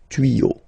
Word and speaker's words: tuyaux: Same rule, you don't pronounce it. Des tuyaux.